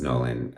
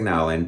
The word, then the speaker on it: Nowlan: I think it's Nolan. Like, it looks like Nowlan, but I really think it's Nolan.